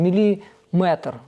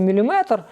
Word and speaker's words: міліметр: вже просто плоска йде Я поки що неправильно наголоси роблю я вам скажу чому тому що більшість інформації яку я знаходжу Я читаю її Тобто я не дивлюсь якісь відео А читаю саме ну і звісно там майже немає ніякого наголосу ніхто не ставить тому так як читаю так і говорю і бувають помилки От наприклад в міліметр правильно говорити міліметр Ну а в текстах не ставлять наголос Ну а так як